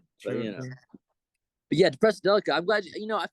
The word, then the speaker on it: Depressedelica: Yeah, I was a real big fan of a Depressedelica, if I'm even pronouncing it right.